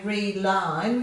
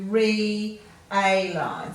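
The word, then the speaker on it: realign: So we're not going to combine that to say re-line. We're going to split that to re-A-line. So re-A-line, not re, simply.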